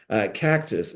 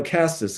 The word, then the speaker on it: castus: Vitex Agnus castus uh Cactus no castus excuse me that that's